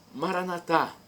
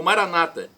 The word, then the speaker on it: Maranatá: aramaico dialeto de Jesus, Maranatá, como dizemos nós católicos com a tônica na última sílaba, ou Maranata, como dizem os nossos irmãos separados, os evangélicos ou protestantes, com a tônica na penúltima sílaba.